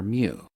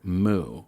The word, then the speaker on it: mu: In math and science environments, we usually say the m sound followed by the word you. So, it rhymes with few. Occasionally, you'll hear moo, which sounds silly to